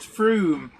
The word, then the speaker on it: Frome: Oh, Flymo Sherman says it's pronounced Froome. Yeah. It might be pronounced Froome, but it's spelt Frome.